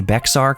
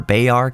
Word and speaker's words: Bexar: I always forget how to pronounce the county. Bexar County or Bayard County? Bexar?